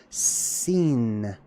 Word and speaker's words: Sin: Sometimes it was just pronounced with the regular old s sound. Sin.